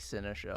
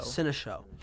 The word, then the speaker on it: Cinéshow: Cinéshow, how do you pronounce? Like Cinéshow. Cinéshow.